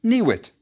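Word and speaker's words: niwt: Yes, we recognize the next word as town, and it's pronounced niwit.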